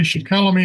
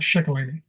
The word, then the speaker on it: Shikellamy: He was the second son of what everybody calls Shikellamy, but actually he was Shikellamy. Excuse me here a second. Is the pronunciation again from Conrad Weiser's paper. So it's properly Shikellamy and not Shikellamy.